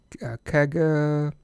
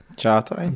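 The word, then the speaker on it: Çağatay: Kaga. Chata. I'm sure. Chatai, yeah. But it's pronounced it's written C-A-G-A, right? Yeah. So it's very deceiving.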